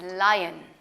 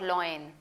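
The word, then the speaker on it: lion: okay now व्ट इज लायन इट्स नॉट लॉयन क्योंकि पहले क्या आ रहा है आई सो you don't pronounce it लन you pronounce it लायन okay लायन so again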